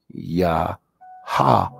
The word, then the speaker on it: Yahweh: And when it's written out, it's pronounced Yahweh, Yahweh. But in English, as you'll see, it's pronounced Jehovah, Jehovah. Now, the issue is that we have no J in Hebrew. We have no O in Hebrew. And we have no V in Hebrew.